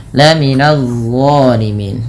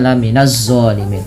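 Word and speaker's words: الظالمين: Laminadzolimin. Nah, ini d jangan dibaca lam minzalimin. Tapi lihat d pangkal lidah terangkat ujung lidah menempel dengan gigi atas.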